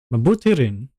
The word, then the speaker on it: Mabuti rin: So because there's no pause, the I in Mabuti means doesn't mean anything. It changes how you say it. So now it's more like an I sound, more like an E sound. It's more E than E. Mabuti rin.